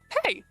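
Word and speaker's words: hej: here we have hey the J is pronounced like a English y hey hey hello that one I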